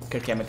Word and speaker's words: Kirk Hammett: Kirk Hammett is the guitarist, the guitarist. That's how you pronounce it.